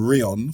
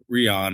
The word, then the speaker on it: Rion: Yeah, a lot of some of my friends used to call me Rion or Rion or all sorts of fun pronunciations because it's R-I-O-N.